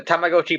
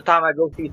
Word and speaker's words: Tamagotchi: Moving on to Tamagotchi Plaza.